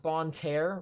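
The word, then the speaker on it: Bonne Terre: It's pronounced Bon Terre.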